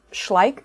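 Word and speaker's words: Schleich: um oh the brand the brand is schlik I think is how it's pronounced um I know we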